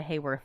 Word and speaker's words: Hayworth: Yeah, he does, but he actually he got him a Rita Hayworth instead on accident. What are you looking at? I'm looking at pictures. Because he said it wrong. He said Hayward.